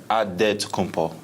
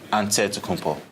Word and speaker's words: Antetokounmpo: a D, so it's Antetokounmpo. But in the Greek way, you say with the NT, like Antetokounmpo. Whatever you got, just say, you know, it's Giannis Antetokounmpo.